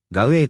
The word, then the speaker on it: gawwe: シリア語では、ガウエーと発音されますが、